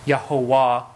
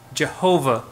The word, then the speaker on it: Jehovah: are being put together producing this yahovah or Jehovah as we've come to uh pronounce it here in English so this is how